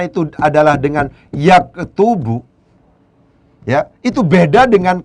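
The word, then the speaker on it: يَكْتُبُ: Ketika cara bacanya itu adalah dengan yaktubu, ya, itu beda dengan ketika cara bacanya dibaca yuktabu.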